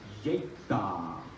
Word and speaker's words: Yeikthar: Now in Thabarwa, Yeikthar, Thanlyin, the correct pronunciation, Thabarwa, Yeikthar, Thanlyin.